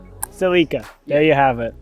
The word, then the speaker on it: Celica: How you would say it is Celica. Celica. There you have it. The anglicized version of the Japanese way of saying it.